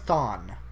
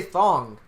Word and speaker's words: Thawne: No, you said it right, Thawne, actually. That's for once. weird. I would say thong because I think of bikinis, swimsuits.